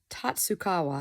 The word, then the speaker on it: Tatsukawa: Tata Tatsukawa, I think is how you pronounce her name.